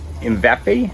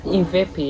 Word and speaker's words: Imvepe: Imvepe? Imvepe, yeah.